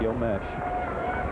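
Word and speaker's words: Meche: How it's pronounced? Yep, Gil Mesh.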